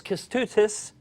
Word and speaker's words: Kestutis: You're about to meet a guy whose first name rhymes with "let's do this," and it's going to make sense in just a moment. His first name is Kestutis Rasimavicius.